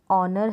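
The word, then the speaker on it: honour: इन सारी स्पेलिंग में ह साइलेंट है जिसे अवर है ओनर है प्रनंसीएशन हो रहा है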